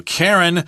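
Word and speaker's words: Karyn: So Karen walks into the boutique here. Karen, her name is spelled K-A-R-Y-N. Karen is usually spelled K-A-R-E-N. Yeah, but this is a popular spelling of Karen in England.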